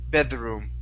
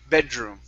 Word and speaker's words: bedroom: word bedroom okay so instead of bedroom or you didn't roll the r but you did pronounce a spanish d saying bed the room bedroom instead of the the room it's pull your tongue back in so it's not touching your teeth bedroom bedroom bedroom good